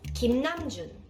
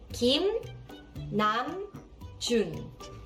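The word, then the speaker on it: 김남준: video you are going to learn how to pronounce BTS members Korean names correctly then let's start the first name is Kim namjun Kim Nam Jun Kim Nam Jun Kim Nam Jun also known as RM yes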